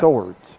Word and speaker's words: Seward: Okay, Seward is in. This first appearance of this match for her. I believe that's Swords. How do you say it, Jeff? Swords. Swords.